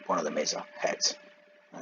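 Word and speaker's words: חית: But one of them is a Het, and it's pronounced Heh.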